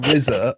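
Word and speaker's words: RZA: he's called jizer like RZ RZ a is pronounced rizer and then G Za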